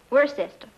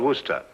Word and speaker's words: Worcester: But it's spelled W O R C E S T E R. We're sister. Oh, yes, I see. Yes. Lord Worster.